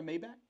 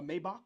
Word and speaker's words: Maybach: Have you ever sat inside a um you ever sat inside a Maybback? A Maybach? Is it a Maybach? Maybach.